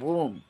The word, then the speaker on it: womb: t next we have womb w o m b womb a p shape